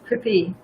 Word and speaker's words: Kripi: The wife of Dronacharya, Kripi, the pronunciation is Kripi, is the sister of Kripacharya.